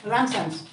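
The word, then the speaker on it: Ramsden's: So to keep silent, we pronounce it Ramson's.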